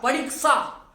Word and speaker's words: परीक्षा: लेकिन हम लोग बोलते बोलते उसको परीक्षा, परीक्षा, परीक्षा बोल देते हैं, लेकिन उसका उच्चारण होता है परीक्षा।